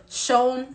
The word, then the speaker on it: Seun: It's not pronounced Seun. Seun, Seun, Seun, Seun, Seun, Seun.